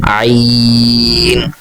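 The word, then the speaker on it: عين: এর পরবর্তী অক্ষর, আপনি লিখন শৈলী দেখে রাখুন, শুরুতে মাথাটা একটু গোল, এটাকে বলা হয় আইন। আমি আবার উচ্চারণ করছি আইন।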